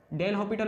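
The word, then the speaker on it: L'Hôpital: डेल हॉपिटल rule कह सकते हैं, एल हॉपिटल रूल भी कह सकते हैं।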